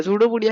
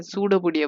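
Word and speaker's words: pseudopodia: सूडोपोडिया है P silent होता है बेटा, ये आप लोग मत सोचना कि पीजोपोडिया भी हम बोलते थे, सूडोपोडिया बोलते हैं बेटा, ठीक है।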